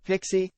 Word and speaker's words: PXE: radically explanation the reboot execution environment pxe but pronounced pixie bios boot option is used to install an